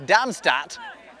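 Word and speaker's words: Darmstadt: Damstag. Damstagat. Stat. Damstat.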